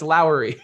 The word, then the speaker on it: Lowry: now Lowry Lowry marketin is that Lori Lori is my mom's name which is spelled a no I'm not gonna go it's Lowry we're good we're good but